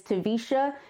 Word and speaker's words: Taversha: My name is Taversha, and yes, the R is silent, but I am Taversha across all social media platforms.